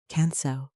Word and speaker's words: Kanso: Kanso, pronounced as kan-so, means simplicity.